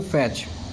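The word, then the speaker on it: fetch: को ध्यान से देखेंगे एफ ई टी सी एच इसमें टी ऐड है सी के साथ में तो जब भी कभी टी सी एच इस तरीके से आएगा तो आपको क्या समझना है कि टी का जो साउंड है वो ऐड नहीं होगा टी को क्या रखना है साइलेंट रखना है एच यू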